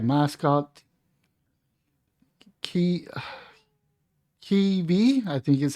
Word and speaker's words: Kyiv: Key, Kyiv, I think is how you pronounce it.